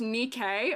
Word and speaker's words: NIKKE: Wait, Nike's pronounced Nikkei? Oh, sorry, I'm pronouncing it like the goddess of victory that the name is spelled the same as.